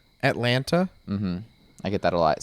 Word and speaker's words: Atlanta: people people say no some people pronounce the t atlanta i get that a